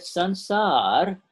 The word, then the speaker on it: sansar: And in that sansar, the sansar means sansar. If you want to pronounce it right, it's called S-A-N-S-A-R, sansar.